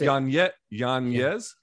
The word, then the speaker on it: Yañez: Yeah, so it's Yañez. Yeah, Yañez, but yes. A lot of white people can't say it. So I just like, No, it's just Yañez. Just say Yañez.